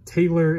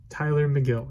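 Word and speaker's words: Tylor Megill: that difficult i mean it's tyler but just with an o so it's still tyler and then it's mcgill it's not taylor it's not meagle it's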